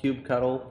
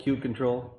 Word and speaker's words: kubectl: Probably the most important question, is it kubectl, kubectl, kubecontrol?